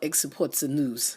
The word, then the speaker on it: Xports News: So not export as in EXPORT, but X as the letter ports news. And it's spelled Exports News.